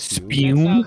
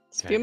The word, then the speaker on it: Spume: Can we agree how it's pronounced? I think it's Spume. Yes. That sounds pretty correct. Yeah. Spume is right.